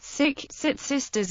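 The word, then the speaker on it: Tsitsistas: Grinnell's record is typical, in which he states, they call themselves cis sisters. Sit sisters is the correct pronunciation, which the books commonly give as meaning people.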